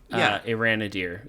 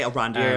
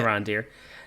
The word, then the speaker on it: Arondir: But a question about Iranadir there. Okay. Or did I say it right? I'd say Arondir. I think that's how you say it. Arondir.